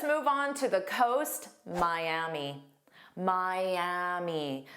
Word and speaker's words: Miami: Miami. Miami. So, notice we have three sounds. My m is the stress sound and then a long e.